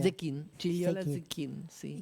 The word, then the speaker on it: Zecchin: Gigliola Zecchini, ¿cómo se pronuncia? Zequín, Gigliola Zecchini.